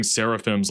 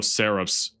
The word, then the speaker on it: seraphs: or why I keep I keep saying saraphims like no seraphs. I'm sorry I pronounced that completely wrong.